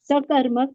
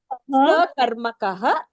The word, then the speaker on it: sakarmaka: Sakarmak and akarmak. You should not say karmak. You should. How should you pronounce it? Karmakaha. Very good. Sakarmakaha, akarmakaha.